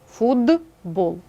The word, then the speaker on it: футбол: на свою дзвінку пару наприклад слово футбол так глухий т та дзвінкий б наступний приголосний впливає на попередній Отже ти перетворюється на свою дзвінку пару д фудбол винятків з цього правила